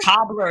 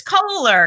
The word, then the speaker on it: Koehler: or cobbler, it's Kohler.